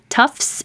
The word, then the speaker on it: Tufts: Tufts is a university. Maybe I'll put that here. But we don't take time to make the second T, tufts. Just skip it and make tufts.